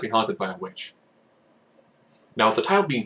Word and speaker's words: The VVitch: The Witch, which is spelled with two V's.